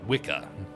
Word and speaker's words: Wicca: That's how you pronounce it. Wicca.